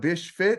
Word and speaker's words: Bish Fit: You got Bish Fit.